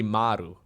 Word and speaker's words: Maru: I know there's some StarCraft casters out there that call him Maru. Maru. Maru. The most Dutch pronunciation would be Maru.